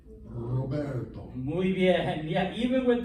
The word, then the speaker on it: Roberto: same sound if um it's at the beginning so that's not roberto what is that roberto muy bien yeah even